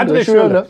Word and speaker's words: André Schürrle: Ich habe es falsch ausgesprochen. André Schürrle.